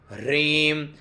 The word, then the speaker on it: ह्रीं: ओम श्रीं ह्रीं, ये उच्चारण करना है श्रीं दीर्घ, ह्रीं है के अंदर रहे बड़ी की मात्रा, तो ह्रीं श्रीं कमले कमलालये प्रसीद प्रसीद श्रीं ह्रीं श्रीं ओम महालक्ष्म्यै नमः।